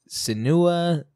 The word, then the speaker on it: Senua: Senua, it's Senua. It's Senua. If anyone's wondering to how to pronounce it, it's Senua. Yeah, it's Senua's Sacrifice. That's how they say it in the game, so that means it's right.